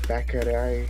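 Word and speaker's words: Bäckerei: It's Bakari, that's how they say it.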